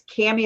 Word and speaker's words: Cami: gosh all the time so I say it's cami like cami Oh camshaft camcorder but I still have